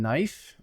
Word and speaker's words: knife: the history of english so for example the silent k and knife well that's because maybe up to a thousand years ago in english it was pronounced knifa the vowels also changed